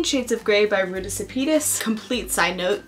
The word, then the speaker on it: Sepetys: First up is Between Shades of Grey by Ruta Sepetys. Complete side note, the way I remember how to say her name is that it sounds like Zetas Lapidus.